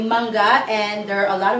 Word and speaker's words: mga: The pronunciation is like ma and then nga, manga. But we use this spelling.